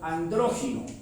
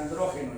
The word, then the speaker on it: andrógino: Que Adán era andrógino, pero ni siquiera pronunciaba bien porque decía andrógeno y es andrógino.